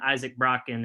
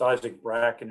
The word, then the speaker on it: Isaac Bracken: Griffin, Tyler Cacciatore, and Isaac Brocken. And do you think they'll be ready for fall? Yeah, they're all in town working out. It's Isaac Bracken, I think the way we pronounce it, but they're all here.